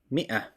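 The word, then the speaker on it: مائة: and finally a hundred in Arabic is called Mia 100 is called Mia and that if after the main is silent don't pronounce it just right just pronounce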